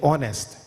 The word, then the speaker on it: honest: tsunami tea is silent in honest H is silent in Psychology p is